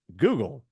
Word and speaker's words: guggul: substance actually reads and sounds just like the internet search engine all of you have come to know and love called Google Now it's not spelled